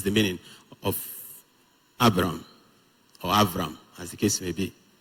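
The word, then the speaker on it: אַבְרָם: So instead of saying Abram, the way we will say it, if you are to read it in Hebrew, you will say Avram.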